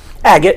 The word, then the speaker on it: Agett: ¿Lo pronuncié correcto? ¿Agett? Agett, yeah.